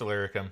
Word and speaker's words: Illyricum: It's Illyricum.